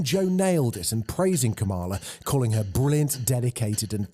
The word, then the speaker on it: Kamala: name her name is pronounced comma like the punctuation mark luck kamala okay seriously i've heard